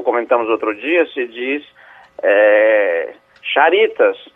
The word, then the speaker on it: Charitas: Ele pronuncia como está escrito, porque o X é um exemplo, né?